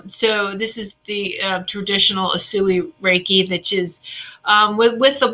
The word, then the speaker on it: Usui: Pronounce the type of Reiki for me. It's Usui. Usui Reiki master.